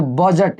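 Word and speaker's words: budget: यहाँ पे देखो बजट, इसको पढ़ेंगे ब, इसको पढ़ेंगे जट, बजट मतलब यहाँ पे डी क्या होगा? साइलेंट होगा।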